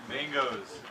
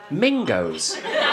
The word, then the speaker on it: mangoes: Also, the way your accent works, you pronounced it mingos. You didn't say mangoes, you said mingos, which sounds like a racial slur, and these fucking mingos, doesn't it?